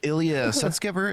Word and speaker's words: Ilya Sutskever: Ilya Sutskever?